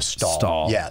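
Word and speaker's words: Stahel: is that right that's how do you say it did you i say julia stall yes yes basically um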